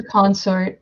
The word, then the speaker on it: consort: I'm gonna go for consort. I have one die. Do you mean consort? Consort. Because I feel like consort means something else. Yeah, it's something else. Emphasis on the other syllable.